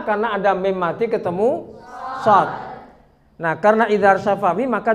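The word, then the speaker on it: صٓ: Jadi bacanya shad gitu. Jangan shad. Ada yang baca begitu, shad. Nah. Ya kan? Itu salah.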